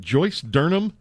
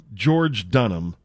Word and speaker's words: George Dunham: Is it Joyce Durham? No, it's George Dunham.